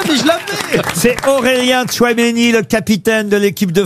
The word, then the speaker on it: Tchouaméni: Eh bien donc vous avez les deux premières syllabes. C'est celui qui va être Aurélien Tchouaméni.